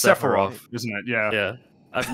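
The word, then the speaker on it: Sephiroth: Sepharoth or Sepharoth, whichever way you pronounce it. Well, it's Is it Sepharoth or Sepharof? It's Sepharov, isn't it?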